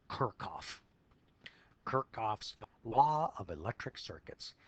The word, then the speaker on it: Kirchhoff: was a gentleman named how do you think that's pronounced it's actually Kirk off kirchoff's law of electric